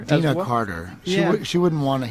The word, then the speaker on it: Deana Carter: And don't you tour with the country music artist Deanna? Yes. Dena. Dina Carter.